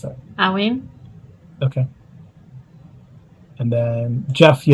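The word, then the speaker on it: Eryin: How do you pronounce that? Awin.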